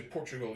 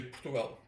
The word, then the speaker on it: Portugal: Because when you say Portugal, you're it's very closed, but we say Portugal. We Yeah. open it at the end.